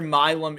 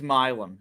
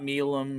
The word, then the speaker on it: Milum: Yeah, I did make sure milm is milm. It's not milum or anything like that.